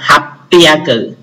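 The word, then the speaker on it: 八百: Còn nếu mà các bạn muốn lưu ý thì lưu ý luôn số 800, 800 nó cũng đọc đặc biệt như vậy, nó đọc là hapiaku.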